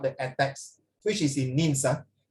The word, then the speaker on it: Nice: attacks, which is in Nins. This one don't pronounce as nice. You pronounce as Nins.